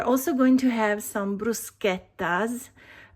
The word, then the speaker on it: bruschetta: We're also going to have some bruschettas. I know you pronounce it bruschetta, but that's not the right pronunciation. Maybe you can say bruschetta from now on. It will make every Italian really happy.